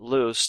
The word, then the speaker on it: loose: incorrectly in speech but Loose two o's is uh the opposite of tight the lid on the jars is loose think of it as rhyming with goose L is the present